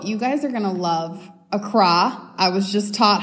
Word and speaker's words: Accra: in Ghana so you guys are gonna love Accra I was just taught how to say it